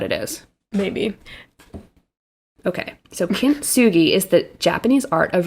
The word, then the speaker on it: kintsugi: i actually had to really practice how to pronounce it so now the last thing is called kintsugi have you heard of this you might have heard of this without knowing what it is maybe okay so kimsugi is the japanese art of repairing broken pottery